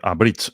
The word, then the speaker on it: Abridge: y esta gente de Abridge se pronuncia. Vale, Lo acabo de buscar, no tenía ni idea. Pero Abridge, que significa abreviar. em, pero bridge se pronuncia igual que puente, bridge.